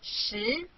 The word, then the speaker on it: 十: This is its syllable 十.